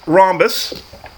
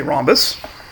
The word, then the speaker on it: rhombus: square is both a rhombus okay silent h don't forget the sound h i always do and